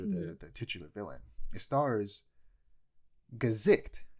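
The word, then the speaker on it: Gesicht: It stars Gazikt. It's not pronounced gay shit. It's Gazikt.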